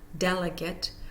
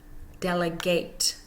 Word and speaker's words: delegate: this for homographs a if the homograph is a noun the first syllable is stressed let's look at a homograph delegate and delegate when it becomes a noun delegate we hear the first syllable when it becomes a verb delegate we hear the second syllable so delegate it's the